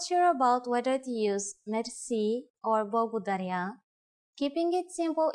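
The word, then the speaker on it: мерси: Merci. Merci is a loan word from French, but it is pronounced with the typical Bulgarian hard R.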